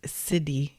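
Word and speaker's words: siddhi: to say the word it's cdy but it's spelled s d DH which is a Sanskrit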